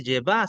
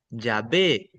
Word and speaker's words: Yahvé: Los judíos reclaman y dicen, "No se dice Yvá, se dice Yahvé."